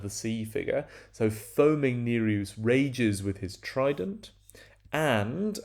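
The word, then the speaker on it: Nereus: is spumous neruse um neruse with a long e or neros if you like so foaming neruse spumaus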